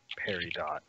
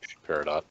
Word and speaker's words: peridot: I believe it's peridot. Peridot. The T is silent.